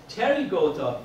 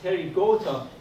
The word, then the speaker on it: Pterygota: Pterygota, P is silent. P is silent. Pterygota, it means these are the insects that they have wings.